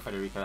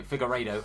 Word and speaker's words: Figueiredo: Not Federico, how do you say his name? So Figueiredo, apologies.